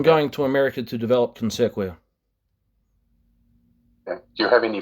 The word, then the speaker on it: Consequia: You're very focused on your Consequencia. I'm not sure whether I'm pronouncing that correctly. Consequia. So please, correct. Consequia. Consequia. Yeah.